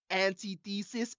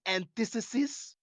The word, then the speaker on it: antithesis: that's almost like um antithesis antithesis I'm like that's how you pronounce that it's not just anti-thesis but anyways that is